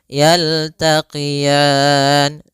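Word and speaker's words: يلتقيان: Ah ah maka bah marojal bahroini marojal bahroini yaltaqian. Kemudian pada lafal ro ini di sini ada bacaan lin yaitu adanya fathah bertemu dengan ya sukun lembut dalam lafalannya. yaltaqian.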